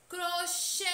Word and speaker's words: crochê: ser acentuada Oi e a palavra crochê é oxítona pois a última sílaba é tônica crochê a sílaba Xê é a mais intensa é a que demorou aí mais a ser pronunciada e essa sílaba pode